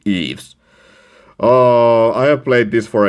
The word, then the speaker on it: Ys: I really hope that I pronounced the name right, because it's not Wise like you would expect, but it should be Eve's.